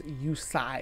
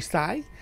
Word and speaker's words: Usai: I think it's Usai, because that's Sai like the ninjutsu weapon or whatever, the Ninja Turtle weapon, a Sai. So Dr. Luigi Usai.